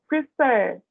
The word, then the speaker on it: prefer: Então, por exemplo, prefer, preferir. Eu tenho consoante, vogal, consoante, e a última sílaba é tônica.